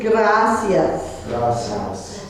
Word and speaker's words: gracias: is por favor por favor thank you is gracias and because of the stress you put the